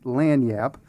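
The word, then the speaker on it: Lagniappe: It's put on by our local beloved weekly LAN Yap which took me forever to figure out how to pronounce that because how it's spelled and how you pronounce it are two different things. It's French.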